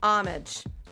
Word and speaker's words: homage: Homage. Homage. Homage. Said it right. She did. It's homage.